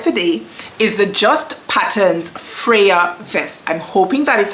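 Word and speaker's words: Freja: is how it's pronounced it is spelled f re e j a I'm going to go ahead and assume that J is pronounced like a y I'm going to pronounce it Freya you guys when I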